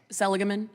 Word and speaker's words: Seligman: before us here today I've heard your last name pronounced a couple of different ways today how how was it properly pronounced Selman thank you very much Seligman Seligman okay thank you Mr Selman you stated